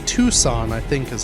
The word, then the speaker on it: Tucson: how to pronounce it i keep saying tuscan arizona but those are the guys from star wars the raiders uh el paso no that's in texas that's something yeah i guess tucson i think is how